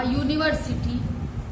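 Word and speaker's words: university: क्योंकि जब आपने यू कहा यूनिवर्सिटी तो एक्चुअली उसका साउंड YU आया, YU, और Y क्या है, कंसोनेंट है।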